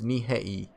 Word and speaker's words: Nihei: Anyway, Hikaru Nihei. Nihei? Because you pronounce the I. And I just pronounce as E in Japan. So it's Nihei. Nihei.